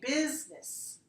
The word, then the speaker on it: business: different meaning I'm saying business - I'm saying business with business I'm saying with two syllables business so the selling